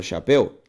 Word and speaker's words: chapéu: Se eu faço a separação silábica da palavra chapéu, chapéu. Perceba também que é uma palavra oxítona.